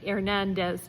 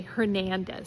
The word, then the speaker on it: Hernandez: So in Spanish you might say Hernandez but in English we would say Hernandez. So with the h sound.